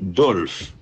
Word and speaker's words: Dolph: Numéro 15, Alexis Dolph. Dolph s'écrit D-O-L-P-H.